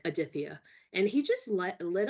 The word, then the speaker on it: Aditya: really struggled with and it was Aditya so it's spelled as a-d-i-t-y-a but there's like that nice th in there and I and I